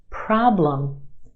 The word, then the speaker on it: problem: Another one, problem. Two syllables in this word. Our first syllable is emphasized. The problem is stretched and emphasized in the first syllable. Our second syllable is where you have your schwa. Lum.